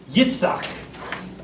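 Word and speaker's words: יצחק: Yitzhak in Hebrew.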